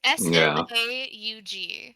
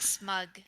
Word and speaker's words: Smaug: Oh, that sounds like a weird way to say smog. It's Smaug. I so see. Smaug. I always want to say it like smug.